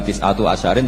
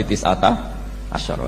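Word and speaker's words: تِسْعَةَ عَشَرَ: Tetap bacanya bukan tis'atu asyarin tapi tis'ata asyara.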